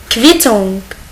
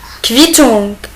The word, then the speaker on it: Quittung: Coup und OU, il se prononce kev. Kev. On va voir des exemples. Il s'écrit comme ça. Coup, kev. Quittung. Quittung.